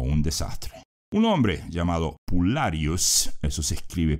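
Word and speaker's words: pullarius: una victoria o un desastre Un hombre llamado pulus eso se escribe p u l l a r i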